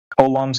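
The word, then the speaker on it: Coulomb: It's like the oh uh colum's law I think is how you say it. Col's law. Yeah. Kum's law.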